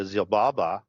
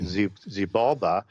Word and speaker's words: Xibalba: In the Popol Vuh of the Quiché Maya, you have the Zilbaba. I butchered that name, sorry, Xibalba.